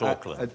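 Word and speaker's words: Auckland: Not Oakland. Uh, but not Oakuckland, oddly enough. That's spelled with a C. A little redundant C. A U C.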